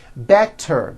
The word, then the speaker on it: better: Better becomes better.